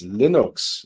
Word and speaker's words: Linux: is lena storewaltz and i pronounce linux as linux so that's happened and